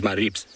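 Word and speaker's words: Maribye: english names um and the way to to say it is maribs which basically is m a r i b s is how you pronounce it but it is spelt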